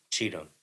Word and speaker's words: Cheatham: Cheatham.